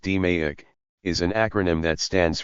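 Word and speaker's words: DMAIC: DEI pronounced DMEIK is an acronym that stands for the five steps that make up the approach.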